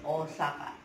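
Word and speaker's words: Ōsaka: Osaka, O, Osaka, O, Osaka. Pronunciation is Osaka.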